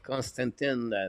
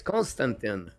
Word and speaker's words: Constantin: And my name is pronounced Constantin by the way. Oh, it's Constantin. Here we go. I did not know the last two letters.